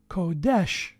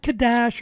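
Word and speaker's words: קֹדֶשׁ: that are set apart kodesh there those two words are pronounced the very same way not kadash or kadesha also for everyone who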